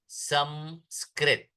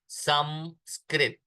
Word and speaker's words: संस्कृत: एक बात सन सन एस ए एन जो हम लिखते हैं वो दोष पूर्ण है संस्कृत इट इज मकार नॉट नकार संस्कृत वह सही मायनों में